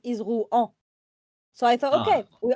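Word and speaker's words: Rouen: It reminds me of one accident of uh my teammate saying ruen and I thought he was saying ru but pronouncing the n at the end like the city of ru it's written o u e n and I thought he was saying ruen as he doesn't know the sound is ru.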